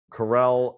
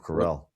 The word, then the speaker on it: Carell: Carell, and Farley.